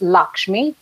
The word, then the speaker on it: Lakshmi: this is how I am usually called it's Lakshmi uh and that's spelled as l a k hm I and